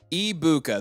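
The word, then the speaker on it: Egbuka: So, Ibuka, the G is silent.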